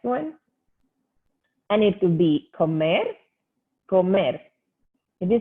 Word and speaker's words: comer: We don't have the ka. The sound that it's normally a and o together. We pronounce our o's like o's, hard o's. So comer, it's to eat.